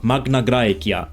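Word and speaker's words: Magna Graecia: This colony was the beginning of Magnagraia, which means great Greece in Latin. Yes, in Latin. And that's of course in the classical pronunciation.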